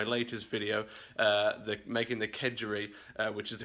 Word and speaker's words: kedgeree: see in my latest video that making the kedgeree which is the correct way of pronouncing it I totally botched the name when